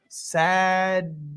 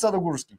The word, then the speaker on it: Sadogursky: Hi, and this is Sadogursky. I always pronounce it Nailed it. Sadogursky.